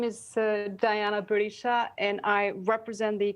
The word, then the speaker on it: Diana: you for that contribution dajana or dahana or darjana i'm sorry if i've got your name wrong diana it is diana it's the albanian version of d-i-a-n-a so thank you thank